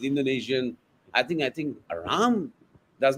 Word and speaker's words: Ram: which is not true you see Rama is wrong is not Rama is Ram I don't know how